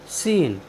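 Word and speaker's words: scene: सी ई एन ई सीन सीन होता है दृश्य साथियों यहां पर भी एस और सी एक साथ आए हैं इसलिए हमने सी का उच्चारण नहीं किया है साथियों चलते हैं अपनी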